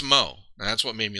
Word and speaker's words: Modzelewski: But yeah, it's somebody pronounced it Modzaleski and wrongly. It's Mo, because their nicknames were Big Mo and Little Mo.